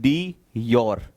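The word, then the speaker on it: de jure: बोलेंगे तो इट इज डी योर, DJURE। Pronunciation में योर आता है, बट उसका स्पेलिंग की अगर बात करेंगे तो JURE होता है, डी योर हेड, यानी कि नॉमिनल सिर्फ नाम का हेड है।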